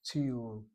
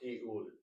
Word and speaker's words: tiyul: Tiyul is the Hebrew word for a trip. Tiyul, Tiyul. not tiul. Well, if you say latiyul, that means going to a trip. But the correct pronunciation of this would be You're adding a lot. The word is tiyul.